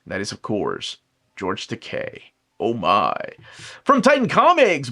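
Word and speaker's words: It Rhymes with Takei: That is, of course, George Decay.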